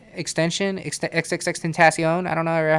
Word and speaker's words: XXXTentacion: one does right and everybody just says xxx extension whatever nobody no one says yeah right exactly you you like this this guy i don't think biggest fans argue about it i'm pretty sure that there's a video where he says like how do you say it and he says xxx tentacion like he says it right and who who the